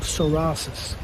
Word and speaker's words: psoriasis: an ever growing disease called sorasis spelled p s o o r i a s i s that comes from the